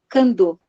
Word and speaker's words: Candal: A gente escreve Candal, mas a gente fala Candô.